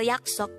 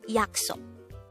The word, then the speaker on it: 약속: Now, how do we spell yaksok in Hangul? Let's start with the first of the two syllables.